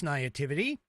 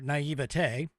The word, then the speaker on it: naivete: In the past, liberals have taken advantage of this naivety, or naivete, however you want to pronounce it, to build an energetic coalition of misinformed college kids.